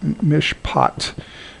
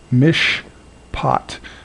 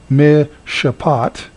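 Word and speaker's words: משפט: goes on through taught mishpot Mish pot this is another example of a silent schwa it's not actually pronounced me Shabbat Instead This silent schwa marks the end of a syllable and is silent Mish pot uh final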